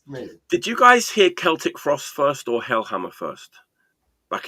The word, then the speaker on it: Celtic Frost: Celtic Frost. Celtic. But I saw them back in the day, and they said Celtic Frost.